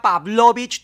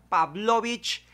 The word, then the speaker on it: Pavlovich: humanos infelices ambos y la pávlovich así se pronunciaba pávlovich tuve que practicarlo 20 veces antes de decirlo pávlovich casi desde ahí potter